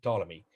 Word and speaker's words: Ptolemy: the second century a.d ptolemy you don't pretend you don't uh pronounce his let his first letter p just say ptolemy but i see it